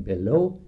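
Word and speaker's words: Belleau: ready Bella it's depend you pronounce it Bella if you're Anglican Bellow if you're French so there's two of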